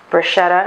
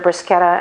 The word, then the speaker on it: bruschetta: had an italian friend who was horrified when everyone would say bruschetta instead of brisketa and many people correct me when i say bruschetta but trust me bruschetta is accurate it's a it's the correct way to say it so now on each